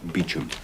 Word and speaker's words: Beauchamp: Uh Beauchamp Walk, Southwest 3. Pronounced Beecham's.